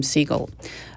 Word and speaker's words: Segal: named Shelly Segal and she purposely pronounces her name seagull and she's going to